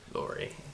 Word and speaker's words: Lurie: Can't pronounce his last name. That's Lurie. What we're just calling him. Lurie? Lurie.